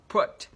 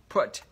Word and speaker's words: put: Cái từ này thì hơi đặc biệt một chút là chúng ta có là âm short u thì chúng ta đọc là uơ và đọc là put, put.